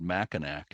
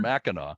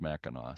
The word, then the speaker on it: Mackinac: the podcast, I said Mackinac, and somebody immediately emailed me and said, it's not Mackinac, you whatever. It's Mhm. Mackinac. Doesn't matter if there's a W or C at the end, it's pronounced Mackinac.